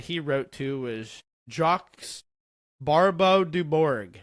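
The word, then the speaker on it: Barbeu-Dubourg: One of the contemporaries that he wrote to was Jacques Barbeau du Bourg. That's the American English French pronunciation of this man's name.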